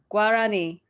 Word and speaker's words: Guarani: spoken beside spanish is gurani is that how you say it yeah guarani which is also their currency so that's the name of the currency as well yeah so like um so for us